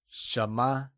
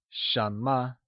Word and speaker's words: 什么: 什么 is pronounced in the mid-rising tone. Let's hear you say 什么?